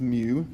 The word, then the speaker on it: mu: But at any rate, what you need to understand out of this is that mu, that's pronounced mu, the Greek letter mu, is what we use to denote a population mean, right?